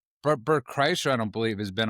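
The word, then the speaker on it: Kreischer: Bert, how do you pronounce his name? Chryser. Bert Chryser, I don't believe, has been on a on Rogan a lot lately.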